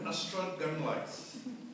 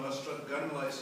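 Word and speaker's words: Ystradgynlais: The best pronunciation of Ystrad Gynllaeth I ever heard was "Why strangle us?"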